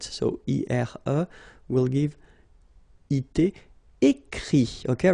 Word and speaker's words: écrit: Écrire, to write, so IRE will give IT, écrit, okay. Remember that even if you've got this final T, you don't pronounce it, so it goes like écrit. Okay, dire, IRE as well,